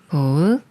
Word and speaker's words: 복: 꾸음 꿈 꿈 꿈 다음은 복이라는 글자인데 마찬가지로 음모음 글자 부분을 먼저 읽어요 브 소리내는 비과 오 소리내는 오를 합쳐서 보라고 읽고 여기에 윽 소리를내는 쌍기역 받침 소리를 합쳐서 보 윽 복 복 복다 다음은 둘이라는 글자인데 마찬가지로